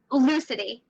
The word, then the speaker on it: Lucidi: Do you pronounce the IE at the end or not? Lucidi. Lucidi, okay.